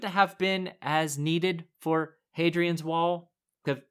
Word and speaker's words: Hadrian: Point of order, Hadrian. Hadrian. Okay, I wondered whether you'd know how to pronounce that correctly.